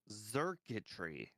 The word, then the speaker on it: Xurkitree: stuff that starts with an X is just hard to sound. A lot of the time it sounds like a Z.